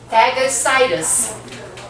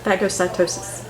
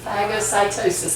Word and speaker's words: phagocytosis: Second line of defense is the phagocytus. Did I say it right? Phagocytosis. Phagocytosis.